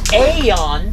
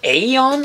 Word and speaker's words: Aion: close-ups now this is the Evo aeon I believe is how you say that it's uh 35